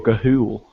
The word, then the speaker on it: ghoul: Is it ghoul or gahul? Ghoul.